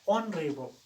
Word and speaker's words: honorable: again we have an honorable person an honorable person no doubt this world honorable it begins with edge which is constant letter but having a look on on its pronunciation it is o honourable its first sound is